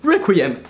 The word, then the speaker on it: Requiem: but you just have to pronounce it the French Way because the French way is the best way Requiem banana and this is